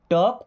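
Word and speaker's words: talk: Okay, then टॉक politely, टॉक में मैंने अभी आपको बताया था कि एल होता है साइलेंट, है ना।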